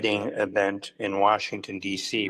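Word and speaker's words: Nicieza: So the way that he would tell people is it was knee and he'd point his knee. So knee c asa that's how he would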